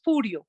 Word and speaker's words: Furio: No es Julio, es Furio. Furio, Jessy.